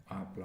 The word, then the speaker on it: hablar: To speak began with a silent H. I don't know if you remember this verb. Hablar.